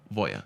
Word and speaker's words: Voja: And I asked for a Voya token, and I pronounced it Voja. And he goes, no, Voya. Oh, and I wow, go, okay. And I go, what makes it Voya?